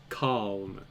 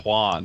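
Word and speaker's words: Kalm: one of our members how are you pronouncing his name Khan okay calm k-a-l-m yeah it's like that I was hearing Quan and I'm like that's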